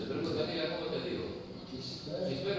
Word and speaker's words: Gisbert: Esto es Gisbert, no, como dice, es Gisbert. Gilbert. Eso me lo dijo a mí. Porque lo conocen gallego, pero es un apellido catalán.